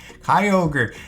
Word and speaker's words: Kyogre: Kyogre.